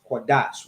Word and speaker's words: Qadash: This connector lets you know that they're joined together, they come together, and they're pronounced Dash, Qadash, right?